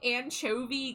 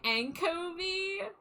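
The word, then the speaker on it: Ancho-V: Uh, it's supposed to be Anchovi Games, but it's a N C H O dash V. So, it's supposed to be like Anchov, but I was pronouncing it anko like like like echo like anko.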